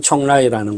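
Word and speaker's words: 邛崃: 이 술 회사가 있는 곳은 사천성의 성도, 청두의 교회 도시, 즉 우리식 발음으로는 공례시고 현지 발음으로는 총라이라는 곳입니다.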